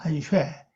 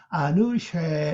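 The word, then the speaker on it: אנשי: 안쉐. 이걸 천천히 발음하면요. 안으쉐 이렇게 되죠. 안쉐.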